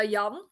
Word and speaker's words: Jan: for us it's uh yum oh so quite similar to a different pronunciation yeah yeah for for us like we don't have the the US uh suffix for us it's just j-a-n um oh yeah yeah